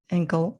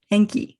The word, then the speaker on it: Enki: like you said inanna and ankle thank you i can't pronounce it what was the name again enki and um so okay